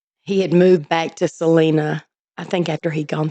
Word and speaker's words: Celina: Oh, it's Celina.